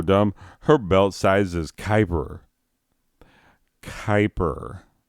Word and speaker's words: Kuiper: her belt size is kyber kuiper i know it looks like quipper but it's pronounced kuiper yo mama's so fat